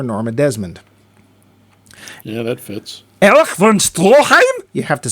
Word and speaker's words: Erich von Stroheim: Erich von Stroheim?